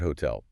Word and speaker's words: hotel: Let's use the word hotel. The stress is on the second syllable.